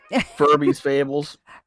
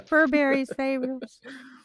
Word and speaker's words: Furberries Fables: Furby's Fables. Furbies. I get that a lot, yeah. Furberries Fables. Blueberries Fables, because it's a blue bear. I mean, purple bear. I mean... Close enough. Yeah. Furberries Fables.